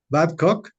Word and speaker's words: Battcock: con dos autoras con Clementina dime si estoy pronunciando bien tu apellido por favor badcock si está correcto Está correcto pero no hay